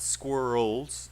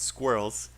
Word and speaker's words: squirrel: sorry squirrels pigeons squirrels i know it's really hard because it's one syllable it's not squirrels it's squirrels and pigeons pigeons pigeons two